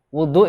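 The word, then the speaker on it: وُضوء: Wa amal wudu bi fathil wawi fasmun lil ma'i wa bi dhammiha ismun lil fi'li 'ala al-aktsar. Ini mirip-mirip dengan lafal wudu. Wudu itu bisa dibaca fathah wawunya, bisa dibaca dhammah wawunya.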